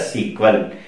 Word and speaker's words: SQL: using one query language you can just pronounce a sequel SQL structured query language for simply